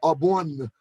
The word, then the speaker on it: Arboyne: She pronounces it with a French tongue because she said it is a French. So it is pronounced Pastor Arboyne.